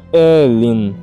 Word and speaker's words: Aoilin: Mais tarde, muito mais tarde, ela me disse que era Christine Aoilin, que se pronuncia Elin, mas escolheu um novo nome quando se juntou às Irmãs Religiosas da Misericórdia.